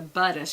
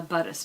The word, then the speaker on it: Buddhist: It's just so ironic the way that whole, or my friend who's a Buddhist, she says it's Buddhism. I'm a Buddhist, not a Buddhist.